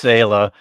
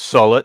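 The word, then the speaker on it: Sehlat: And it's either pronounced Sayla or Sullet, depending on if you want to go with McCoy. Well, I always said Sayla. Yeah, it's Sayla, but McCoy goes Sullet.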